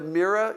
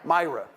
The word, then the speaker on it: Myra: We did see Grand Forks, the Mira, is that how you pronounce it? Myra.